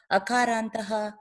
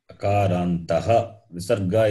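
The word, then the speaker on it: अकारान्तः: Akarantaha. Visarga is important.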